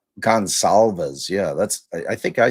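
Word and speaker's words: Goncalves: Yeah, I don't call him Gonclaves or Gonzalez. I said it wrong. Gonsalves.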